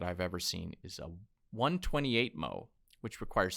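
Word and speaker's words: 128mo: The smallest format I've ever seen is a 128 mo, which requires 7 folds and produces 256 tiny pages.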